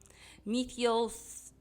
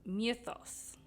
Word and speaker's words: Mythos: Mythos, I haven't been saying it right. Mythos.